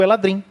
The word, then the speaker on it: Eladrin: Teve um pessoal do podcast que estava discutindo como é que pronuncia o Eladrin, né? Que eu falo Eladrin porque, sei lá, parece meio Tolkien, assim, né?